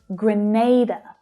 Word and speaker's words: Grenada: Watch that middle syllable there, the stressed one. The sound is the A vowel sound, like in day. Grenada, not Grenada.